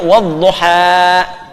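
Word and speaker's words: والضحى: Jelas sama dengan dammah ya ketemu wau u panjang sama dengan kasrah ketemu ya i tapi alif tidak menerima apa harakat karena itu dibacanya wadduha paham baik aslinya ada kasrahnya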